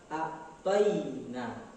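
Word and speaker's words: أَعْطَيْنَا: Berikutnya kita harus perhatikan ada huruf ya sukun dalam kata a'tayna. Seperti apa harus membacanya? A'tayna. Tidak boleh a'tayna. ya sukun bunyi suaranya adalah atoina, tapi yang tepat adalah suaranya atoina. Itu di dalam ilmu tajwid dinamakan mad layyin atau mad lim.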